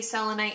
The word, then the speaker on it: selenite: I heard that it's named after the goddess Selene the moon goddess so I always say solely night but if you saw it say selenite it's not necessarily wrong